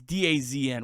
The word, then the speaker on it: DAZN: What do you What do you call it? What's the What do the kids say? I don't know. Someone in the YouTube comments said I said it wrong, but I it's Dazn.